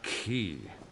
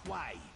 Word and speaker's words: Quay: called Mishra cat's eye key would you listen to these bumpkins who says key exactly call it cat's eye Quay like the divines intended there are Hardware pronunciation